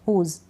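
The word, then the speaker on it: whose: डब्ल्यू का उच्चारण नहीं किया जाता अगर डब्ल्यू एच से शुरुआत होती है।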